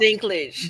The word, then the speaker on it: Dinklage: I don't know how to pronounce his last name. I don't want to chop it up. Dinklage. Dinglish.